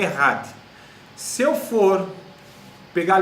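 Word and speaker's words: echad: Então, essa palavra único, na língua hebraica, no original, é Errad. Errad. Tá? Se escreve E-C-H-A-D. Errad.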